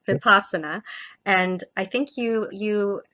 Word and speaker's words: vipassana: think um and please please correct me on the pronunciation of of is it vipasana? I said it incorrectly vipasa. So I'm sorry about that. So vipasana and I think you